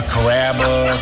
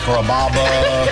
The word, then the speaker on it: Kaba: time pronouncing my name people chop it up pretty good you know Kaba kababa Kura it's a really easy name to pronounce it's Kaba come to kabas for